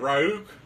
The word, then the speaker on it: Ryuk: Ryuk.